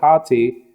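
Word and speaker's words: ὅτι: passage it says hati which has the the rough reading on the Amron that's why you pronounce it hati it says because it's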